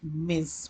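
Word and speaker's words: Ms: better is to write miss pronounces as miss give it the z sound means and internationally it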